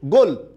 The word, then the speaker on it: গোল: আপনি কিন্তু লয়ে যে অটা আছে সেই অটা আপনি উচ্চারণ করেননি, তাই এটা কি হবে, গোল। লয়ে হসন্ত হবে।